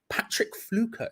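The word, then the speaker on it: Patrick Pflücke: an epic card quite patrick fluker is how you pronounce that guy's name up front apparently he's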